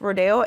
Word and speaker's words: Rodeo: the ofra Rodeo Drive I always say Rodeo Rodeo I don't know why but I was always mispronouncing it but it is rodeo and as always I